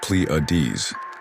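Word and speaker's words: Pleiades: I'm talking about the Pletes which is pronounced pleades.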